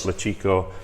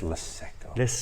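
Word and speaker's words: Luceco: We've got Lechico lights. I've got the name. It's Leseco.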